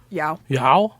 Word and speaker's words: Yao: Yao. Like Yao Ming.